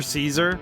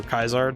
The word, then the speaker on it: Caesar: that the the character Caesar or Kaisar depending on how you want to pronounce things.